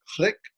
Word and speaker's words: Clique: by asking you uh what click advisor or clique advisor probably a better pronunciation writer is and what it does yeah well it's it's click advisor and and uh don't